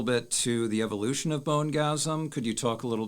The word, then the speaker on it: Bonegasm: relates to the name of your band uh bone gasm and I hope I pronounced that correctly yes okay um could you